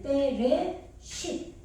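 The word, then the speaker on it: בראשית: 예, 요거는 베트니까 비읍 발음 나는데 여기 감점이 찍혔잖아요. 그래서 빼, 그죠? 레시죠 이게 리을 발음이죠. 예, 이거는 무음이에요, 그죠? 알레프는. 그런데 여기에 모음이 오면은 발음을 해주죠. 예, 여기는 안 왔으니까 지금 예, 빼레 쉿.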